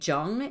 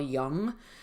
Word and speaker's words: Jung: in my pronunciations like i'll say jung instead of carl young like i'll i'll pronounce